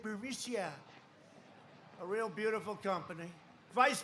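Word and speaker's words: Burisma: this uh buremicia burmucia they say pronounce it burisia a real beautiful company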